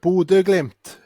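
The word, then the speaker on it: Bodø/Glimt: It's pronounced border glimp.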